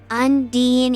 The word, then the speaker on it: Undine: Undine is the official pronunciation according to Merriam.